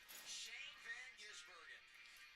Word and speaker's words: Shane van Gisbergen: how to pronounce his name. Now it's Old Hat in Chicago. Say it with me. Shane Van Gisbergen.